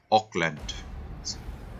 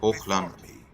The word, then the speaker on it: Hochland: So when they try to pronounce this German inspired provinces, Auckland and all of that. So it would, in German we would say Hochland.